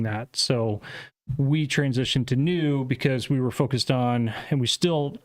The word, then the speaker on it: NXU: tomorrow gotcha and uh the ex is silent tell us about the